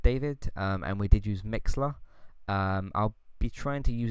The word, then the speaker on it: Mixlr: Now Mixler is spelled Mixlr.